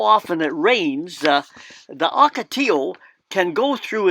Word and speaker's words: ocotillo: so rather than saying acatello and like the english would say the spanish correct pronunciation is ocotillo humming birds love the